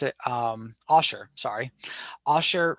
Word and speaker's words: Osher: If you're looking to, completely not have to pay anything, as I pointed out, Ollie or Ashi, I can't remember how to pronounce it. Osher, sorry.